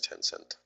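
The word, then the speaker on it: Tencent: by the way China's 10-cent that's how you pronounce it anyway major position they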